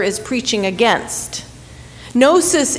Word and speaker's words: gnosis: letter is preaching against gnosis is the greek word for knowledge gnosis to know in greek it's that silent g in english the silent k but in john's time